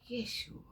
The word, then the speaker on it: Yeshua: So call him Yeshua real name. Even the name is cuz spirit told me to tell y'all Yeshua. Yes. you. The code is in his name. The correct pronunciation is Yes. You Yeshua.